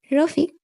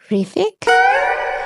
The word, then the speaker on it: রফিক: রফিক হেসে ওঠে। বলল, মিস্টার রিফিক। রফিক তখন হাসে। রফিক বলল, রিফিক না আমার নাম রফিক। রো ফিক নামজিন বলল সরি আসলে